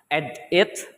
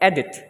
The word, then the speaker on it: edit: So in edit, we have to stress, we have to include the stress right after the vocal A. So it's not edit or edit, but edit. We have to include the stress right after say the word E.